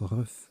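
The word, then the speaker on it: RUGH: Ça se prononce RUF, pardon.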